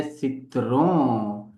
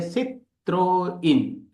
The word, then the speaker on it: Citroën: जा रहा हूं वो नहीं है सित्रों। ये मित्रों सित्रों नहीं है। ये फ्रांसीसी भाषा का वर्ड है जिसको सही प्रोनाउंसिएशन करेंगे सित्रोइन। मे be something else also but इट इज सित्रोइन।